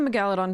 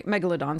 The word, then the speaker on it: Megalodon: I can put the Megaladon back into play um or I Megalodon sorry I always pronounce it incorrectly based on the GRE Roots um so or I